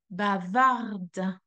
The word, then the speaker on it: bavarde: So what is happening here is the E is added because sœur is a feminine word and then the D is pronounced, which is not the case with the masculine. The last sound we should hear is the R, which is lost in the throat.